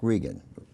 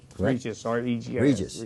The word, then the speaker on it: Regis: County Commissioner Mr it's Jerry Jack Jack Jack Regan Regis Regis I got your name wrong thank you so thank you good to